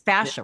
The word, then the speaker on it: fascia: Because I'm not, is it that I'm pronouncing it correctly? Yeah. It's fascia, right? Fascia, Yeah.